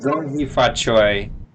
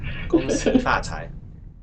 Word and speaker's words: 恭喜发财: I said Gong Hee Fa Choi, but like in a American accent, right? Like how do you say it? 恭喜发财. Oh, whoa, go! I had it wrong my whole life.